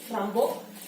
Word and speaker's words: Rimbaud: Y fue así que creó el personaje de Rambo, que se llama así por la pronunciación correcta del poeta francés, Rimbaud, y él decidió, su esposa estudiaba Rimbaud en